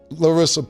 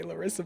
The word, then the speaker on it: Larsa: So, I think a lot of females, Larsa Pippen and them, don't even You always say Larsa, but it's okay. It's Larsa? Larsa.